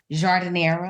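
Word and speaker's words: giardiniera: peppers yes the hot is a reference to jardinera yes did I pronounce it yes jera and the dip is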